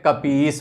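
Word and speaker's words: कपीश: piece बोलूंगी बोलेंगे तो जहां पर संधि हो रही है वहां पे उच्चारण हमेशा दीर्घ का होगा इसीलिए उच्चारण में कापी इस बोलेंगे ठीक दूसरा इसका उदाहरण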